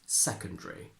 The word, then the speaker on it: secondary: some others in superscript now although it is possible to pronounce the schwa here we hardly ever do and we tend to Simply swallow it and say secondary therefore in British we